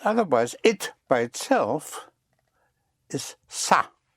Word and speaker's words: ça: But otherwise, it by itself is ça, spelled C-A, and it has a little hook on the C to give you the pronunciation of an S instead of ka, make it ça.